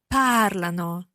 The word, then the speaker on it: parlano: Parlano. So the change of the stress there again. Listen again to they speak. Parlano.